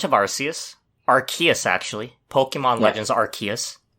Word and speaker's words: Arceus: Is that really how it's pronounced? That's how they pronounce it, which confuses me. Because for years I thought it was Arceus. Maybe because they don't like the word arse.